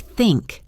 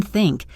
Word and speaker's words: think: For the hard the sound, like in think, gently place your tongue between your teeth and blow air out. There should be no voice, just air. Repeat after me.